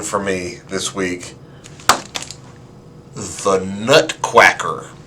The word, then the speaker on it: Nutquacker: me this week the nut quacker i promise you i'm not mispronouncing that the nut quacker was